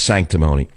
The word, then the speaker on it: sanctimony: It also rhymes with another word, baloney. Sanctimony also rhymes with phony.